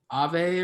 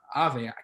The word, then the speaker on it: Aave: Whereas in crypto with Ethlend or Aave, I don't know how you pronounce it now. I think it's Aave. I think it's Aave, yeah.